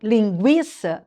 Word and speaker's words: linguiça: Mas no linguiça você fala o u. Por isso tinha o tremazinho sobre o u.